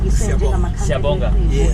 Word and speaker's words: Siyabonga: Siyabonga. Siyabonga. Okay. Siyabonga. Okay. Alright, thank you so much. Siyabonga. Okay. Ngiyabonga nami. Okay. Alright. Siyabonga. Siyabonga, I think. Siyabonga. Ah, okay. Oh. Siyabonga.